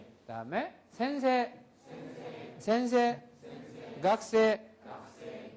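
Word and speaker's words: 先生: 에 에 에 그다음에 센세 센세 센세 센세 각세 각세 니온고노 센세 니온고노 센세 에고노 센세 에고노 센세 하이 이렇게 해서 센세이 각세이 이렇게 따로 발음을 하는게 아니다라는 걸 주의를 하시기 바랍니다.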